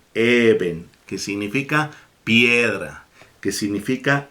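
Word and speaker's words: אבן: llama eben ezer fíjense ya saben ustedes cómo se escribe con una letra a letra vez y con una luz soft se lee even que significa piedra que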